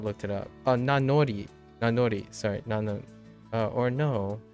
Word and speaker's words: Nanori: Oh, Nanori. Nanori. Sorry. Nano or no. Does that make sense? No, it doesn't. Nanori. Oh, Nanori. Yeah, Nanori. Not Nanomi. Nanori.